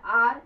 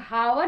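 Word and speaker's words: hour: फिर आर, इसको हम लोग हावर नहीं कहते, इसको हम लोग कहते हैं आर, तो यहाँ एन लगेगा यानी एक घंटा, एन आर।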